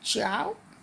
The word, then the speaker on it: Ciao: Now, so Copic, I guess this is pronounced as Chow, and then it shows